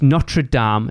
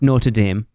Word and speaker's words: Notre Dame: And it is Notre Dame. Notre Dame is somewhere in America that you guys pronounce wrong all the time anyway. It's Notre Dame. It is a foreign word. It's not Notre Dame.